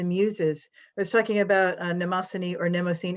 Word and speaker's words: Mnemosyne: I was talking about Mnemosyne or Mnemosyne. How did you say it, Hercules? Mnemosyne. Mnemosyne. How Apollonius, how would you say Mnemosyne? Mnemosyne, more of an umlauted U for the Mnemosyne.